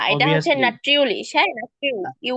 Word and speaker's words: natürlich: নাট্রিউলিশ, হ্যাঁ নাট্রিউ, ইউ উচ্চারণ হবে নাট্রিউলিশ।